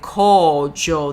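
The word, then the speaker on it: 荒城: being used or desolate it's co it's a long o co Jo no y no is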